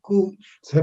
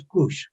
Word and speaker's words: Cush: Entonces, estos 40 años en Q, se puede pronunciar Qs, ¿eh? No hay ningún problema. C-U-S, ¿eh? Se puede pronunciar sin ningún problema. Pero más hebraico es Cush, ¿sí?